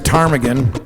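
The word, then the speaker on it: ptarmigan: It's actually the tarmaggan spelled with a pt. E Armagan. I don't know what the P is there for.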